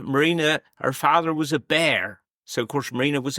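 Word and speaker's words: Beare: family here in Wadebridge, but it's spelled with an E on the end. So, it's b e a r e, but it was pronounced as Bear.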